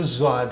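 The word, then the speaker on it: ض: जो अक्षर है वह जवाद है यानी स्वाद स्वाद जैसे ही है उस पर लेकिन एक बिंदी है इस अक्षर का नाम है जवाद जद इसकी आवाज है लेकिन इससे पहले हम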